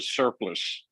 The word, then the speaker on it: surplice: Todd, it was called a surplus. Surplus. Not a surplus, but a surplus. It's spelled with an ICE, but it's pronounced as if it were surplus.